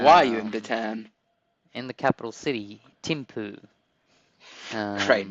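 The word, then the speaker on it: Thimphu: right and I um I looked at the pronunciation and it's literally Tim poo and I like that's pretty fun that's that's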